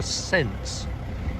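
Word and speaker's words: Sence: Aqueduct it passes over the river since and it's spelled s-e-n-s-e so you can't see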